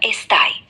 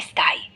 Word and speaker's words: স্থায়ী: এখানেই থামবো কম স্থাই বেশ ভালো চেষ্টা তুমি বললে বললে কম স্থায়ী যেটা প্রায় ঠিক সঠিক উচ্চারণটা হলো কম স্থায়ী মাঝে একটু মেহ শব্দটা হালকা করে বলতে হবে আর শেষে আচ্ছা ঠিক